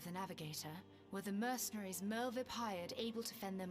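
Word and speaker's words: Merlwyb: There, by the grace of the Navigator, were the mercenaries Merlvip hired able to fend them off. W's are pronounced like V's.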